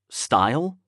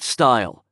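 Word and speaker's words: Stuil: but what was s-t-u-i-l how would you pronounce it like style it looked vaguely scandinavian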